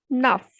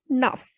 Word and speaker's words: neuf: Next is 9, nuff. Because in my previous video, I told you that when a word ends with consonant C, F or L, then it will be pronounced completely. So the pronunciation will be nuff.